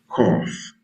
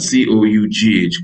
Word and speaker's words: cough: Cough. Imagine that. C O U G H. Cough. So now G and H makes the F sound too like P and H.